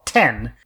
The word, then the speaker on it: Tien: character Ten Shin Han, the subtitles say Tien, but when they refer to the name of the school, which is named after him, they call it Ten. Like, they keep it to the Japanese pronunciation.